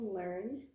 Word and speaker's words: Leung: Before we start, my name is Leung, my last name is pronounced learn as in learning.